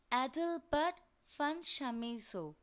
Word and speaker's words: Adalbert von Chamisso: Adalbert von Chamisso. Children, you must pronounce the name properly. It is Adalbert von Chamisso. The V should be pronounced like F, and it is not Camiso, it's Chamisso.